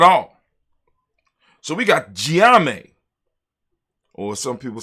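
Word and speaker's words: Gye Nyame: So we got Gye-Nyame, or some people say Gye-Nyame, or Gye-Nyame. You know what I'm saying? We say Gye-Nyame, right?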